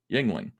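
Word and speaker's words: Yuengling: what the is a Yingling it's spelled y-u-e-n-g-l-i-n-g Yingling look it up great beer brand uh Pennsylvania 1829.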